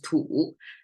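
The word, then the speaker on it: 土: by soil so the right symbol is soil pronounced as tool the left side is Chinese way to say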